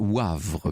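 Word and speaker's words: Woëvre: Laurence me fait amicalement observer que dans la Meuse, la Veuvre, ça se prononce Wavre, me dit-elle sur place.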